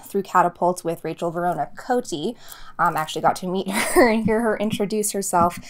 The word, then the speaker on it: Cote: And her last name is pronounced Cote.